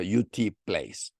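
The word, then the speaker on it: U. T. Place: experimental llamado ut clase así se escribe en español en inglés se pronuncia YouTube Place en 1956 y el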